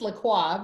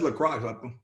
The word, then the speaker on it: LaCroix: No, dude, that's lacrosse. LaCroix, bro.